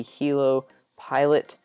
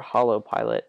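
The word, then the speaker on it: Holo Pilot: Next is the Hilo pilot which or hollow pilot. I mispronounced that.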